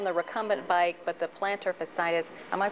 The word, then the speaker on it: plantar fasciitis: feet working on the recumbent bike but the plantar fascitis am I pronouncing that right yes you are goes on